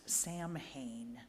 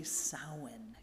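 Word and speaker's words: Samhain: Celtic pagan holiday that looks like it should be pronounced Sam Hayne but it's actually sowin can you say that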